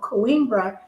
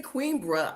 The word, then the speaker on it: Coimbra: Yeah, because when you say Coimbra, I I think queen.